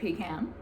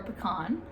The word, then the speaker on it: pecan: This is a pecan or pecan, however you want to pronounce it.